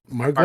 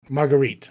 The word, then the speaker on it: Margarite: Margaret Margarite. Margarite. Okay. Yeah. Think like a margarita pizza, but ditch the just margarit.